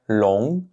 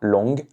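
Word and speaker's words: 龙: Encore une fois, faites bien attention de ne pas prononcer le G à la fin. Ne dites pas long. Long. Donc c'est simplement pour indiquer un son nasal ici.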